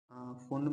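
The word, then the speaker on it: Pfund: fourth होती है फोन, फोन में पी साइलेंट होता है फोन, ना ना ना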